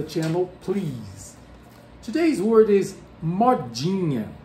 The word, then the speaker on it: modinha: please today's word is mod genia mod genius this is how we pronounce it in brazil depending on on where